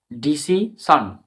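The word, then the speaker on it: decision: যেমন action, action বানানটা দিয়ে ফলো করো। ACTION, action. ডিসিশন, ডিসিশন, এখানে SION, এটাও একটা ওয়ার্ড প্যাটার্ন।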